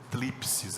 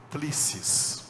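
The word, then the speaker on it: θλῖψις: Esse P que está aí é mudo, então não é tlipsis, igual a vacina que tem, é tlissis. Tá?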